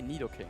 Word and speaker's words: Nidoking: it litter King oh I say Nidoking Nido King yeah Nidoking yeah I said little King as a kid and it's not his Nidoking because Nido it's like